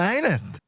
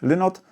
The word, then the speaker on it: Lynott: Wygląda na to, że nawet sami rodacy Phila nie są zgodni co do tego, jak należy wymawiać jego nazwisko. Zatem można chyba uznać, że obie wersje są poprawne. Ja pozostanę przy tej, którą obrałem na samym początku, ale jeżeli komuś podoba się bardziej mówić Lynott, to proszę bardzo, bo najwyraźniej tak też można.